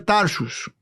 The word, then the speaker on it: Tarsos: Tarsos, el lugar donde Pablo nació, se pudiera pronunciar Tarsus.